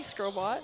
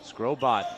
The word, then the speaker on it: Scobot: um this is scobot scobot I think the first time I call one of your games I pronounce it scobo with a soft T nice so thanks for